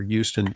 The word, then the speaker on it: Huston: Houston, like uh like the Hollywood director, Houston, hus, not like Houston, Texas, or as we call it here in New York, Hston Street.